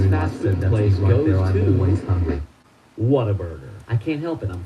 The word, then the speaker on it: Whataburger: I've been saying Waterburger. But I don't think that's how it's called. I think it's Whataburger, not Waterburger.